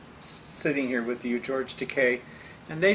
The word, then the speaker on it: Takei: Well, what people want to know, they're seeing me sitting here with you, George Takei, and they say, well, George introduced you a